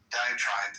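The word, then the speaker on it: diatribe: Um, and by the way, the more I think about diiogenesis, diet trait, um, diet trap, how do I pronounce that? Diet tribe tribe. Diet tribe.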